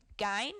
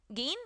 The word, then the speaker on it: Gein: to be discussing is edward theodore gein i think is the way to pronounce it g-e-i-n he was born it's not gene is it gain gain yeah i'm gonna say okay he was born august 27th uh 1906.